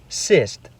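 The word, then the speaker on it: сесть: However, when the hard sign comes before these vowels, they're forced to respect its hardness and use the pronunciation beginning with y. For example, let's look at the word siest meaning to eat up. If the hard sign is removed, it becomes cyst which means to sit.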